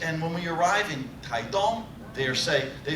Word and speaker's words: Taitung: And I said, I love Taiwan, and I hate to give foreigners the wrong pronunciation, because they get off the train in Taidong, and they tell the local people, I love your town of Taitung. And the Daidang Lang say, huh?